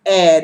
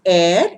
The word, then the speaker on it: heir: written with an edge the h is silent it is air it is pronounced air it means successor prince